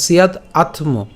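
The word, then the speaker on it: স্যাদাত্ম: এখন এখানে যে আ আছে অর্থাৎ আকার আছে, এই আকারটা আমরা সরেয়া হিসেবে উচ্চারণ করে আত্ম উচ্চারণ করতে পারি, ঠিক আছে? তাহলে সিয়াদ আত্ম, সিয়াদ আত্ম।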